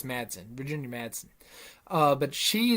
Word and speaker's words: Madsen: todd man virginia madsen i believe is how you say her last name was and marts and marston i think it's madsen virginia madsen uh but